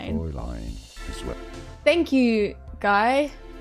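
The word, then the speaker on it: Fräulein: Now the German pronunciation is as fine. Fine line. Fre line. It looks like it should be said fine or frying fine. Fre line as well.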